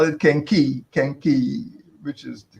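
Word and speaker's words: kenkey: And well, people call it kenki, which is the correct pronunciation, or kanki.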